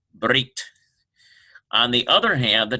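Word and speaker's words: ברית: No vowel precedes it, and the pronunciation is hard Brit.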